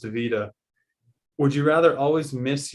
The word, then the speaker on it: Veta: From Veta, pronounced Vita, would you rather always miss your first round race or get 5th in every qualifying round?